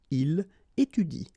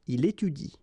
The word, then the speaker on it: il étudie: should pronounce it like il étudie. Okay, so the last thing that you will pronounce will be the vowel I here. Okay, il étudie.